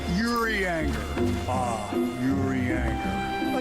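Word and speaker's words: Urianger: It's pronounced like oo. Let the ooh sound glide like the whisper of a forgotten secret.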